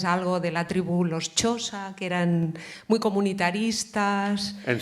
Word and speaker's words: Xhosa: Bueno, la pronunciación correcta, o más o menos correcta, es Xhosa. Se dice así.